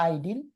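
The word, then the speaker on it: Idyl: brigade আর English ইডিল উচ্চারণটা ইডিল অথবা আইডিল ইডিল বা আইডিল এটা তিনি লিখেছেন ইংল্যান্ডের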